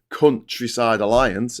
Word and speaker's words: Countryside Alliance: Britain has ever seen, the Countryside Alliance, emphasis on the first syllable there, coming into London and